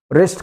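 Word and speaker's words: wrist: रिस्ट कलाई को कहते हैं।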